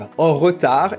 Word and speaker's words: en retard: En retard is repronounced en retard, so that E that doesn't have an accent is skipped.